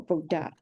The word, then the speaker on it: Buddha: for example, we use different for symbol D and DH. So we have the different symbol for Buddha. Okay, fine. I have And that. even though we pronounce without aspirated sound.